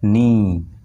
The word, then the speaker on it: knee: যেমন KNEE নি, এটা কিন্তু কে এর উচ্চারণ হচ্ছে না, কে বাদ দিলেই কিন্তু আমাদের উচ্চারণটা বের হয়ে আসছে NEE নি।